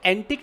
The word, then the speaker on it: antique: अच्छा, कोई अगर ऐसा कोई आइटम, उसको एंटिक भी कहा जाता है, पता है? एंटिक, Yes, sir. Antique.